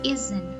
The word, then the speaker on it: isn't: Jadi ada huruf S, namun dalam membacanya kita baca menjadi Z. He isn't happy.